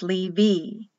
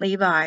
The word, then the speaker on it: Levi: sound like a v like lee v it's not levi it's lee v z e c h